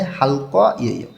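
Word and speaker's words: 할게요: দেখেন রিউল উল বা রিউল এর পরে যখন গেওক আসে তখন এই গটা ক উচ্চারণ করতে হয়, এটা ভাতসিমের ক্লাসে আমরা শিখছি। তো এইখানে উচ্চারণটা হবে হালক ইয়েয়।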